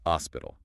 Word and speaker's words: hospital: But remember the H is silent in Spanish. So it's pronounced hospital.